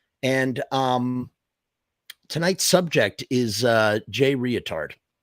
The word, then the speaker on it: Reatard: And tonight's subject is Jay Reatard. And that's the way I'm choosing to pronounce the name. I'm using the extra A in there because in today's age of political correctness, thank you for the skulls.